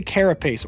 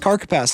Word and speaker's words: carapace: We could get the carapace or the carapace. Definitely not pronounced carcapace like I was pronouncing it in the last video.